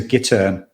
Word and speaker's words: gittern: I love the details, the historical details, because that instrument is a gittern, Gittern, which is how they pronounced it in the show, which I thought was great.